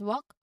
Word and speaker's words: walk: So you'll notice that the L is silent in both of these words. So it's pronounced as walk and talk. You go directly from the vowel sound to the K sound by passing the L completely.